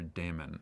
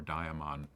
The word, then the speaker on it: daemon: And it's interesting, even Aristotle talked about, as well as Socrates, talked about this inner daemon, or daimon, depending on how you want to pronounce it, this true self inside us.